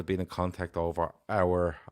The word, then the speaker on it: Aouar: been in contact over Aouar. Is it Aouar? Yeah, that's how you say it.